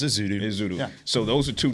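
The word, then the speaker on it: Ezeudu: Yeah, you did it right the first time. It was Ezudu.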